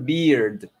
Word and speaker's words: beard: Y esta beard, se pronuncia como barba, se pronuncia como una I larga del español, beard, y se pronuncian uh-huh. estas dos consonantes al final, beard, ¿sí?